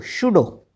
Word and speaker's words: pseudo: ठीक है, psyche, Shah, SHW क्या बना, शाह, क्योंकि P तो साइलेंट है। PSEUDO, शूडो, इसका मीनिंग होता है नकली।